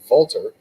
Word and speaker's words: Walter: it because you know walter is actually he pronounces it volterr you know it's got that that's the correct way yeah that's the proper way do they market him